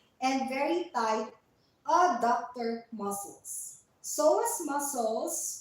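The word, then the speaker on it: psoas: tight soas muscles and very tight aductor muscles soas muscles spelled PS o a s is a power muscle phonetics it's spelled p Asin Papa S as in Sher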